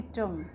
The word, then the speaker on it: tongue: TONGUE, तो इसके हमारा टंग्यू नहीं पढ़ेंगे इसको, हम इसको पढ़ेंगे टंग। टंग क्यों पढ़ेंगे? क्योंकि यू लेटर के बाद हमारा ई है और ई हमारा क्या? वॉल है, तो इसलिए हमारा यू का जो साउंड रहेगा वो साइलेंट रहेगा।